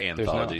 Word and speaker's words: anthology: wrong this whole thing i think you were saying anthology it's just anthology there's no second a yeah that sounds like